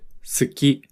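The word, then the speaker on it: 好き: Listen to the word suki, which means to like. Notice how we don't really pronounce the ooh sound when we say suki.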